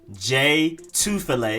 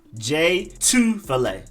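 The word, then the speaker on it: Jay Tufele: you have defensive lineman j two filet and you emphasize the two part j two fillet j two fillet then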